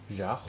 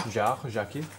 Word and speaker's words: Jaquet: How do you pronounce the guy's first name? Yara? Jaquet. Yeah. Jaquet.